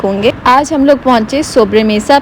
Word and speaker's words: sobremesa: टू be very honest, कोई जो है ना सोब्रे मेसा को सोब्री मीसा बोलता है, कोई सोब्रो मीसा बोलता है, बट मैंने जब इसकी प्रोनाउंसिएशन देखी तो इट्स सोब्रे मेसा, और ये एक स्पेनिश